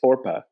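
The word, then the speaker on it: Orpah: It's Orpa. Yeah. So apparently, was that answer number 2 or 3? I just put 2. That was 2. Yeah. So apparently, people would pronounce it wrong so much that she went with Oprah, and then Harpo is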